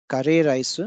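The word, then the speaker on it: カレーライス: This is curry rice and it is pronounced as kare rice in Japanese.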